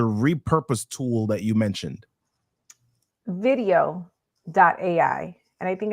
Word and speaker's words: Vidyo.ai: Video.ai. And I think it's Mhm. spelled like VIDYO.ai. That's correct. All right, fantastic. Video.ai.